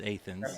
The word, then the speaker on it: Athens: Same when you're traveling into Lexington, going down Athens, Boonesboro Road, not Athens, Athens.